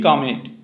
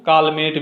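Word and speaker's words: Calmette: ये है यूरिन कामेट। कौन है? Urine कामेट, sorry, urine कामेट, ठीक है। कहीं कहीं आपको कालमेट भी मिलेगा, ठीक है, क्योंकि इनका स्पेलिंग होता है CALMET, तो कालमेट या कामेट, तो यूरिन कामेट, ठीक है।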